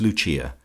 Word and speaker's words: Lucia: of her subjects as Lucia, pronounced, of course, in the Italian mode La Lucia, the wife of Lucas.